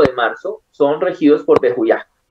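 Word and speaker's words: Vehuiah: Bejuyá. Cuando yo digo aj, es que termina en A-H. Ajá. Y se escribe como B corta E-H-U-I-A-H. O sea, Bejuyá. Termina en J, la H se lee como J.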